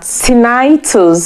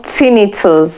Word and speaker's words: tinnitus: From the topic you have seen on the screen today, I'll be looking at tinnitus or tinnitus, which means ringing ears. Tinnitus is spelled Tinnitus. I prefer to call it tinnitus, so I don't know what you call it.